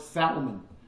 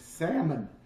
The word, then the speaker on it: salmon: would always call it salmon the salmon this and this salmon i had some sexy it's salmon the l is silent and i don't think